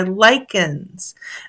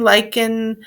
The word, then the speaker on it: lichen: lick in American English lichen is pronounced as the same verb lichen in British English both pronunciations and one rhyming with kitchen are used anatomy and morphology growth